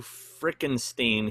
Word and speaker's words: Frickenstein: friends greeting w frickenstein here pronounced stein okay frankenstein just like frankenstein and yes that's my